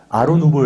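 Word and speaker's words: Art nouveau: 아루 누구 라고 얘기합니다 아로 누구 에서의 art 라는 것이 부터 우리가 아트에서 이 술이 줘 근데 불후 에서는 티가 묵음 이라 a 라고 발음 하구요 n 보호 u v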